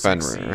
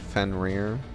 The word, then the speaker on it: Fenrir: Fenrir, to be feared? It rhymes.